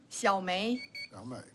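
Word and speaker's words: Xiaomei: x-i-a-o-m-e-i is that correct yeah how do you pronounce that xiaomi yeah long yeah okay thank you Miss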